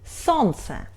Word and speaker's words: солнце: We write like солнце but we pronunciate . We don't pronunciate Л.